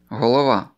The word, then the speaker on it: голова: Про перший приголосний я вже говорив раніше, який, зазвичай, звучить як [ґ] в російській, проте в українській звучить як .